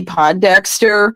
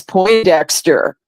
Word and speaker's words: Pondexter: you were there with me remember when campy Pondexter was um was on the New York Liberty and Bill lambir was the coach yeah well I had mispronounced the name to as po Dexter and and Bill lamb beer looked at me